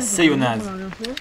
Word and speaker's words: Seillonnaz: Oui, on prononce bien le Z à la fin, sinon à quoi bon le mettre?